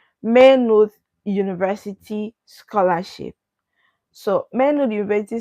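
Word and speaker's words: Maynooth: a y n n o o t h manood University scholarship so men University scholarship are partially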